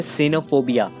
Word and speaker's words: cynophobia: तो उसे हम कह सकते हैं एक तरीके का डर, जिसे हम कहते हैं सिनोफोबिया। साइंटिस्ट लोग इसे ऐसे ही प्रोनाउंस करते हैं।